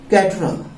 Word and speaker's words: caterer: अब इसका जो राइट साउंड है, वो राइट साउंड क्या है? कैटरर।